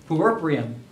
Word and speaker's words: puerperium: There's a fancy word for it, puerperium.